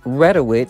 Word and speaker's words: Reduit: my comments so guys the actual pronunciation is Redwood and it's a skin